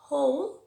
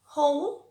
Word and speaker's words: whole: Cuando decimos where, when, will, lo que no pronunciamos es la H, y en who, whose, whole, lo que no pronunciamos es la W.